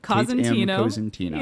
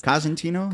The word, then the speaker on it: Cosentino: for five years and I've been saying your name wrong for five years here's the thing don't get no one get mad at Aaron because you're saying it probably the correct Italian way you know but my